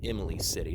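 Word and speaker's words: Imlay City: is eventually heading towards Emily City Emily City that's how you pronounce it but yeah I guess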